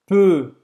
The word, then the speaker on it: peux: Je Peux, peux, esse E é o mesmo do que euro.